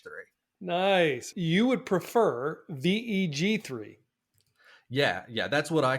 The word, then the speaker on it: Veg3: how we pronounce it what I like is veg3 it's a little bit of a on Words With gpt3 which is the underlying technology that it uses and also it's a